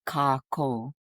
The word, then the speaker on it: kākou: There's a macron over it, over the two syllables. So it's Kakou.